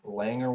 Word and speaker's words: Langer: name is langer langer with an l rhymes with clanger and that's what i